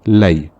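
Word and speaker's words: لَيْ: There is a fatha on the lam. It is now pronounced lay.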